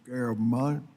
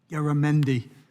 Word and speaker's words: Garamendi: Garabon. 5 minutes. I'm working on it. I'm having one of those mornings, I'm not sure I can pronounce my own name. Garamendi.